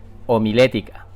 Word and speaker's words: homilética: ética así como esta la omil ética lleva tilde en la e homilética mi nombre es